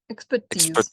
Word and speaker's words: expertise: And in this word, the first one, where does the stress fall? Expertise. Yes. Syllable is correct.